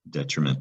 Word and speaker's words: detriment: The first word is indeed detriment. Det, trim. I see the word trim in the middle. At the end is ment, and the syllables are det, tre, ment. Detriment.